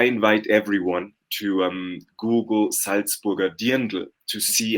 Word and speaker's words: Dirndl: They had to actually deconstruct and recreate a new look made from, I cannot pronounce it. Dirndl.